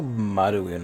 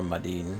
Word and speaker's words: Maduin: finy 9 as well there's also maduin or madin depending on how it's translated and pronounced first even if he